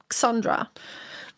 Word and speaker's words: Xandra: Agave Esports is a new team, Gromit and Sandra with an X, Xandra. But I do believe you pronounce it as Sandra.